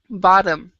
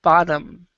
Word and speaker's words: bottom: A lot of times, with a lot of the words in English, if it's a double T, you actually can pronounce it like a D. So it's not bottom, it's bottom.